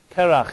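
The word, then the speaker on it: קרח: name of individual but it also is pronounced I can have another meaning called karach in Hebrew it means ice is even somewhere an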